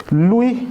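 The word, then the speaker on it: Louis: पहले समझ गए हो लुई ब्रेल साहब लई फ्रेंच थे तो इनके स्पेलिंग प अगर आप जाएंगे तो एस भी आती है स्पेलिंग में साइलेंट होता है फ्रेंच प्रशन में इसमें लुई ब्रेल आज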